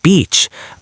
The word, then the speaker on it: beach: So, the place with sand and water is the beach with a long e sound. Beach. The other word is a rude insult. Be very, very careful.